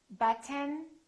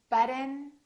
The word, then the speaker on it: button: sounds of American English I'm going to say one word three different ways and I want you to ask yourself which one sounds like an American accent listen carefully written written written button button but forgotten forgotten forgotten